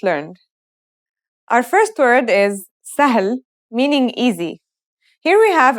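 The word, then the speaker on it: سهل: letters we've just learned our first word is sah meaning easy here we have an initial scene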